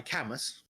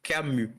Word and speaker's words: Camus: He's French, so Camus. Camus. Camus. Okay, is there? No, you don't pronounce the S. It's Camus.